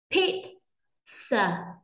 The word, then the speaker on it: pizza: Pit, pizza, pizza. Pizza, trọng âm rơi vào âm đầu cho nên âm đầu sẽ đọc nhanh rất sẽ đọc to hơn lên, nhấn mạnh hơn lên ạ.